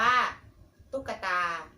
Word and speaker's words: ตุ๊กตา: ดู การ ที่ 1 ค่ะ ตุ๊กตา อ่าน ว่า ตุ๊กตา ออก เสียง กัด อะ กึ่ง เสียง ระหว่าง คัน